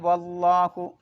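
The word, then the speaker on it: والله: മുബയ്യിനാത്തിൻ വല്ലാഹു. അവിടെ ആ ബാബിലേക്ക് ഇദ്ഗാം ചെയ്യണം. പക്ഷേ അവിടെ സ്റ്റോപ്പ് ചെയ്യലാണ് നല്ലത്. പിന്നെ വല്ലാഹു എന്ന് ഓതുമ്പോൾ അലിഫിന് ഉച്ചാരണം ഉണ്ടാവില്ല, കാരണം വസിലിൻ്റെ അംസയാണ്.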